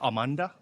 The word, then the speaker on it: Amande: we're at the bistro Amanda did I pronounce that correctly uh uh it's amand actually uh well it's a French word and translates to uh